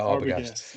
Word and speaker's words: Arbogast: Um and you performed it with I'll my pronunciation this, but is it Arbogast? Arbogast? Yeah, Arbogast.